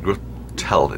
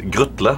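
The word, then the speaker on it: Grutle: It's G-R-U-T-L-E, so it's not Gürtel, it's Grütle. But if if I say Grütle, no? You'll be fine. Grütle, no? That's good. You can say Grütle.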